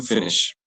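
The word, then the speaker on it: finit: It will be fini.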